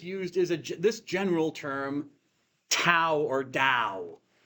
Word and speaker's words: Tao: saw a T, but I didn't realize that in the Wade-Giles system, actually, this should be have a softer sound to it, or pronunciation. It should really be pronounced Tao, even though it's spelled with a T.